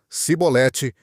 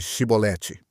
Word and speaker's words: chibolete: Eles não conseguiam pronunciar o som ch e, por isso diziam cibolete ao invés de chibolete.